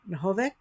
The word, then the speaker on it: Nohavec: Oh boy, I don't know how to say her last name. Nohavec? Yeah, that's good. Ooh, I did pretty good.